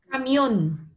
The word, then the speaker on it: camión: Camión. ¿Dónde lleva la acentuación fuerte? On. Cierto, muy bien.